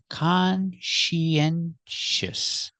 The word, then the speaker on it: conscientious: we see is conscientious let's look at the pronunciation conscientous the first syllable con the second syllable she she like she is a girl she together con she our next syllable is n consen we need a sound in the middle to